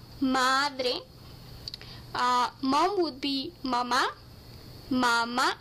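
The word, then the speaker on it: mamá: uh mom would be mama mama you have to put the accent on the last day otherwise it means breast mummy the way children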